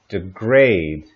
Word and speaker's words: degrade: For pronunciation, keep in mind here, degrade and degradation. So the stress changes for these words.